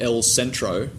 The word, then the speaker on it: El Centro: I did an experiment when I was living in El Centro. That's how you say it in a Spanish accent.